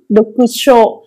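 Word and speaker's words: 読書: Dokusho. Thư thì là âm ngắn. Do đó là đáp án B hoặc C. Đọc ở đây sẽ đọc là dokusho.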